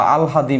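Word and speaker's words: আহ্লাদ: কিন্তু না, এটা উচ্চারণটা অ্যাকচুয়ালি হবে কি, উচ্চারণটা হবে হচ্ছে আলহাদ, উচ্চারণটা হবে কি? উচ্চারণটা হচ্ছে আলহাদ হবে।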